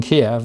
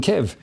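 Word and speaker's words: Kyiv: reeling on the fact the old chicken kiev is now chicken kev i noticed that one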